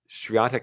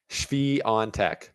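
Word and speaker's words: Świątek: You got Coco Gauff on the hard court, although Swiatek kind of has Coco Gauff's number.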